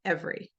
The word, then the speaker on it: every: So even though we might teach them ever and never, every is not pronounced that way. We say every, we say different, right?